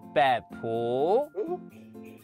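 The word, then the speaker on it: 北埔: ，great，望山，OK， then 北埔，北埔，Yeah， that's right， that's Hakka pronunciation，北埔，条分。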